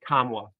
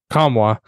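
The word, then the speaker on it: Nkamhoua: his last name because I don't want to mispronounce it Olivier kamwa okay kamwa we have him at eight he comes in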